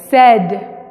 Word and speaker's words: said: Como decir sed, tengo sed, said. Igual, said. Si te fijas, es say, said, pero pay, paid. Ahí sí suena a, paid, pero con said suena diferente. No se pronuncia las dos vocales, paid, said.